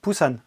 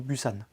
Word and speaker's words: Busan: du dernier train pour poussins et ça se prononce bien pusan et pabu than ou busan ce long métrage réalisé par iouchtchenko est sorti